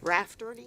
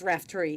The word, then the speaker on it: Raftery: I've been pronouncing your name all this time wrong. Rafferty? It's Raftery, yes.